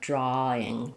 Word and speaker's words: drawing: And then I would say the where it's most likely to have that R creep in is in a word like drawing. Drawing. We're going to just have drawing with nothing between the a and the ing. Drawing. But in British English, they may say that more like drawing drawing. Um, so there's a that's called the intrusive R.